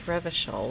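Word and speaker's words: Revachol: He pronounces Revishell with a hard K, unlike other people.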